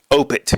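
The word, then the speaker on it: Opeth: opi's um Heritage album which say it correctly opit is how it's actually pronounced and um the there's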